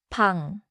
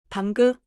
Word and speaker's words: 방: So, if I say, 방구, I added something that was not there. 맞아요. 방 is one syllable. 방구 is two syllables, and it changes the sound a lot.